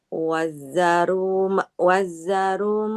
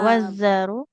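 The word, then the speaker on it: وذروا: Wazzaruma Nggak wazaru.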